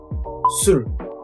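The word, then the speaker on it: 술: The second one, alcohol, is Su plus L. Sul.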